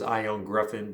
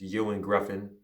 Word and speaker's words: Ioan Gruffudd: i i couldn't pronounce i thought it was ion gruffin but it's ewan griffin cool he is probably